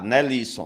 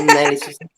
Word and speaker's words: Nelson: Tá, Nelisson, né? É Nelson. É meio Sim. estranho. Tem um acentozinho aí, né? Nelson, né? Show de bola. Tá certo. Não tem acento na escrita, mas tem acento na pronúncia, né?